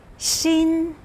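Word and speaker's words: 心: like the pupil of an eye cool right shin pronounce with me shin this used to be shaped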